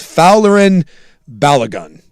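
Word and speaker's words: Folarin Balogun: I still can't do it, but phonetically, it's it's Fowlerin Balagun.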